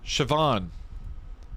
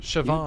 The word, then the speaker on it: Siobhan: You do want to stress on the second syllable. The van syllable Siobhan.